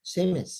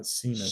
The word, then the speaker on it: Seamus: Oh, Seamus. That's how you say it. Seamus. It's not Seamus.